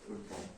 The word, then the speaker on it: 불법: 자, 요 발음 어떻게 해야 돼? 불법. 원칙적으로 한자어지만 비읍은 해당하지 않잖아요. 그럼 어떻게 발음해야 돼? 불법이라고 하는 게 원칙입니다.